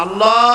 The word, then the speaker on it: আল্লাহ: নাম হচ্ছে আল্লাহ মুখটা একটু গোল হয়ে যাবে বলেন আল্লাহ আল্লাহ পৃথিবীতে বিভিন্ন জাতি তার স্রষ্টাকে, তারা যাকে স্রষ্টা মনে করে, বিভিন্ন নামে ডাকে।